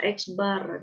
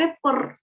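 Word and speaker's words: x̄: Tuliskan cara bacanya X yang Idris Apa itu bacanya eksbar Dedek kemarin mahasiswa sering masih ada juga salah dengar tadi apa Uh dia mendengar ever padahal Bar Akbar atau nilai rata-rata ini maknanya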